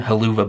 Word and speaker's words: Helluva: talked very briefly on hell of a boss Hua boss we could also call it that's an alternative pronunciation halua boss I talked about this